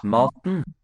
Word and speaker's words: Maten: E is silent. E kind of drops out here in that second syllable. Maten. Maten. Should we do in English too with a word like button? There's no O sound.